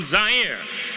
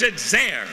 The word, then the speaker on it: Zaire: Cosell coming to you live from Zaire some would pronounce its air they're wrong it got big laughs